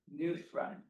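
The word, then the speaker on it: Nusrat: Think of it as a newspaper. Reading a rat. Reading a newspaper. News rat.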